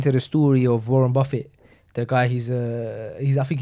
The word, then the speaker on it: Buffett: Warren Buffett. He's Buffet. Nah, Buffett. I think Buffett. Okay. I think it's spelt like Buffet, but it's Buffett.